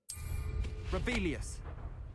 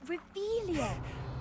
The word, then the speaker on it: Revelio: place where are you rebellious you're saying it wrong oh rebelia much better oh shut up wait